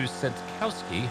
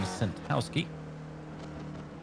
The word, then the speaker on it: Sentkowski: And I apologize to Sentkowski, whom I have been pronouncing Sentowski. My apologies to you, sir. It's one of those sneaky Ks that just got away from me.